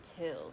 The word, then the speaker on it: Thgil: Like, if he hadn't explained how to spell his name, he's like, it's spelled like this, but we pronounce it Till.